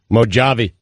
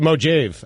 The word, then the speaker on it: Mojave: Mojave. That's the way you should. Mojave, actually.